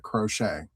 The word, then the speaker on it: crochet: And you pronounce it just like that. Crochet.